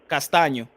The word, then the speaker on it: Castaño: How do you say his name? Castaño.